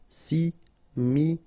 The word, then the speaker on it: Similaire: Final E not pronounced. Similaire.